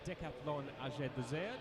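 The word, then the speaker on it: Decathlon AG2R: junior development team for Decaplan AG2R on the road next year or decapon A depending on how French your pronunciation needs to be.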